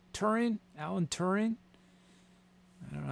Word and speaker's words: Turing: i saying all right i think it's just turing turing alan turing i don't know how to pronounce it look it up t-u-r-i-n-g test you